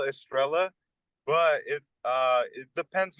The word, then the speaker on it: Estrella: lot of people call it Estrella, but it depends how you pronounce it. So it's actually Estrella. It's supposed to be Estrella, like a star in Spanish, but it's people just call it Estrella.